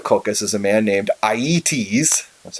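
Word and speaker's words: Aeëtes: the king of kokis is a man named IE tease that's how you pronounce it and iet shows have lots of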